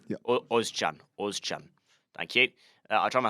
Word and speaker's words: Özcan: So Salih Ochan, is that the right pronunciation? Özcan. Yeah. Ozcan.